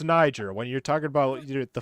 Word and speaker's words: Niger: it's a niger flag that's not how it's pronounced johnny are you talking about the country it's niger when you're talking about